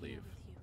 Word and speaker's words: Liev: I think in Wolverine it's pronounced leave I think you should